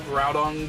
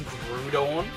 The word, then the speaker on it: Groudon: Used to call Groudon Grudon when he was young.